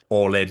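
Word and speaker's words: Alin: All in, Alan.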